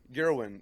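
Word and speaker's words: Gawain: Gerwin. It's a weird name. Gwen. Gerwin, I think is his name. It's like Gerwin. It's no R in his name. It's Gwen.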